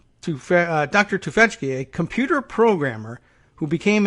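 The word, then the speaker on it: Tufekci: checked in on the actual pronunciation of her name but i think we kind of have it there uh that's pretty close and i think that's uh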